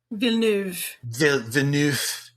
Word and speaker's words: Villeneuve: One by, I'm going to try and say his name the French way. Denis Villeneuve. Villeneuve.